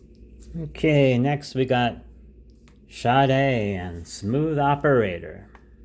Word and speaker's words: Sade: Okay, next we got Sade and Smooth Operator. You say her name like that like an H is here. Sade and hyphenated E.